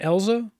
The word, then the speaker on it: Eiza: Eiza, yeah.